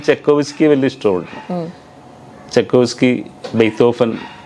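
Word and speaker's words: Beethoven: ഇപ്പോൾ ബിതോവൻ എന്ന് പറഞ്ഞത് തെറ്റാണ് ഉച്ചാരണം ശരിക്കും. Ludwig phone ബെയ്ത്തോഫൻ. അപ്പോൾ V ഒക്കെ F ആണ് അവരുടെ ജർമ്മൻ്റെ ഇതിൽ.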